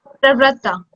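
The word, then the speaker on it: प्रवृत्ता: So first is P, means pra, and then next is V. V for van, V. So it's Pravratta.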